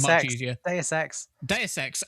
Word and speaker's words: Deus Ex: Deus Ex. Oh, I was pronouncing it in the French way.